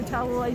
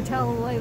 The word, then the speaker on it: Talalay: I'm Rachel Talalay. Thank you for pronouncing it properly. I practiced. Didn't they tell you Talalay from Gallifrey? No. Or Talalay like Tallahassee. Those are the two.